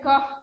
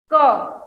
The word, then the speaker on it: ख: So, see, don't pronounce it as ka. This is kha. H sound should come in kha.